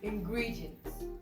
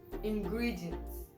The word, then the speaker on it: ingredients: Gri has the apostrophe, which is the primary stress. So when I pronounce it, you can hear ingredients, ingredients. Gri, there's a stress on it, right?